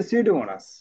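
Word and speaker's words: Pseudomonas: এখন এর সাথে আছে সিউডোমোনাস। তাহলে আমরা সিউডোমোনাসের নাম, এটা কিন্তু একটা বিষয় যে পিটা সবসময় কি হবে?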